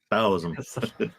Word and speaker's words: Taoism: Taoism. Yeah, in Chinese, it's actually pronounced with a D instead of a T, but most people